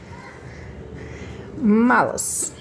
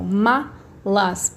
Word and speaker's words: malas: Aqui eu tenho então malas, malas, malas. Aqui, se vocês repararem, quando eu falo, ó, malas, a minha sílaba mais forte não é a última, é a penúltima.